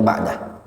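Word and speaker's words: بَعْدَ: ilmu yang ana anu itu bacanya ba'da Bukan ba'du dia ada ketentuan Kapan dibaca ba'du ya W alam ya memang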